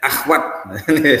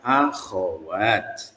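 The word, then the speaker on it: أخوات: di negeri kita tuh dibaca dengan ee agak sedikit lazy bacanya akhwat akhwat itu salah Sebenarnya ya bahasa Arabnya itu enggak ada akhwat yang ada adalah akhawat gitu ya nah jadi ee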